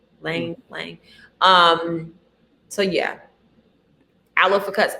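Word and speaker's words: ylang: Lang Lang is spelled Y-L-A-N-G. Lang.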